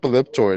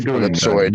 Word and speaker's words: ellipsoid: if you look up elliptoid, it says it's the mistaken pronunciation of ellipsoid.